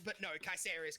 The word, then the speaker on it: Caesar: actually both are correct Caesar is how it be pronounced in most other languages but K say is how it might sound in Latin or would like it